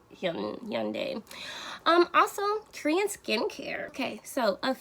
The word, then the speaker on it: Hyundai: I don't think in America we say it correctly, but it's like Hyundai.